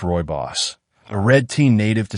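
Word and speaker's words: rooibos: Roy Boss, pronounced Roy Boss, a red tea native to South Africa, is caffeine-free and packed with flavonoids that protect your skin's collagen.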